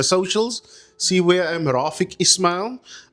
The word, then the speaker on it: Rafique: Rafik is R A F I Q U E.